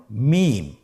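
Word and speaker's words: ميم: মিম। হরফটির নাম কি? মিম। মিম হরফটি উচ্চারণের ক্ষেত্রে অবশ্যই বারিক হবে, পাতলা হবে এবং তিন আলিফ টেনে উচ্চারণ করতে হবে।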